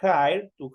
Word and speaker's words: hire: Tenemos aquí to hire, en este caso tenemos una H, si ustedes pueden, de hecho ustedes están escuchando esa H, es como que ahí estuviéramos teniendo una J, pero solo al momento de pronunciar.